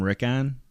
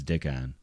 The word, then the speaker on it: Dickon: He'd call him Rickon or Recon or something, and he'd say, no, it's Dickon.